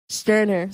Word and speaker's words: Stirner: How do you pronounce his name? Max Stirner. Stirner.